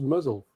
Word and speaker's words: Mousehole: That That village is apparently pronounced Muzzle.